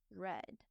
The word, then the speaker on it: read: bot think thought read read notice that the past tense is spelled the same as the base form but it's pronounced differently the past tense is is pronounced like the color red the past tense of